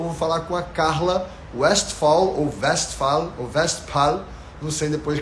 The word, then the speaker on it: Westphal: Eu uso o V mesmo, né, o alemão pronuncia mais de som de V, né, mas o L deles é mais acentuado, aí eu já não falo, né, que seria um Westphal.